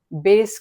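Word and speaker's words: bass: स्थिर करते हैं उसे बेस क्लैप बोलते हैं। बेस क्लैप की स्पेलिंग है बी ए डबल एस। बास रहता है। पढ़ने में बास रहेगा। बास क्लैप लेकिन उसका प्रोनाउंसिएशन है बेस क्लैप।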